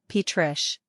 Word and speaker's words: Patricia: Pronunciation, Patrish.